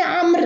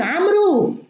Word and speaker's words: عمرو: مثلا من الكوارث اللي في عصرنا الحاضر إنه كلمة عمر، الناس لا يعرفون إنه كلمة عمر الواو في عمر صامتة لا تنطق. نجد كثير من الناس الآن يقولون عمرو، وفي الواقع أن هناك